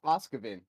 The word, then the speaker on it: Oz Caven: Caven? Is that how we say it? Oz Caven? I'll go ahead and take over this one. It's pronounced Oskavin.